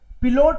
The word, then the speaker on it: Pilot: पिलोट इज पायलट, पायलट की देखो spelling वही है लेकिन हम इसको पिलोट बोलेंगे, जर्मन पिलोट बोलते हैं इसलिए हमको पिलोट बोलना है इसको।